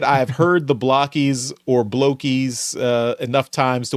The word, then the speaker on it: Blokees: But just they had mentioned that they had given us that image of where that Blokees is pronounced Blokees, not Blokees.